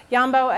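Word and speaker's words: Jambo: Yambo, it's spelled J-A-M-B-O, was a real gorilla.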